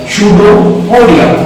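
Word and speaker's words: pseudopodia: पडिया क्या बोलते है सुडो पडिया ठीक है प साइलेंट है बेटा सोडिया क्या है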